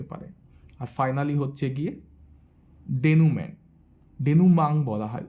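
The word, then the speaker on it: dénouement: আর finally হচ্ছে গিয়ে ডেনুমাং বলা হয় উচ্চারণটা, ডেনুমাং।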